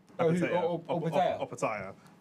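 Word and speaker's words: Opetaia: How do I pronounce his last name, Shane? Opataya.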